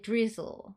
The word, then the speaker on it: drizzle: 한 번만음 하시면 되죠 즈 혓바닥 간질간질 즈 발음 하시고 끝에 L 발음으로 마무리 즈 하셔서 dle dle